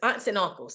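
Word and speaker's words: Aunts et Uncles: aunts and uncles and it's spelled aunts and then the and is French it's ET and then uncles so it's aunts and uncles and it's in Brooklyn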